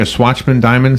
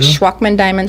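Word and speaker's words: Shwachman-Diamond: I never even heard of, am I pronouncing it Swatchman-Diamond syndrome? Schwachman-Diamond syndrome.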